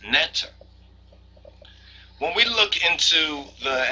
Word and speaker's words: neter: that this being was called by a name which was something like NE t r usually pronounced neter when we look into